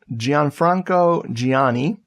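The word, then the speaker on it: Gianfranco Giagni: from 1988 um by I believe his name is pronounced Gian Franco Giani that g might be silent Lookout world uh this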